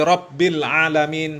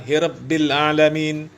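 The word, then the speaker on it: ربِّ العالمين: Ya, padahal orang Arab kaum muslimin, orang Yaman, ya, harusnya jelas Alhamdulillahi Rabbil Alamin, bukan Hirabbil Alamin.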